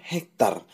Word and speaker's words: hektare: Bacanya hektar, tapi tulisannya hektare.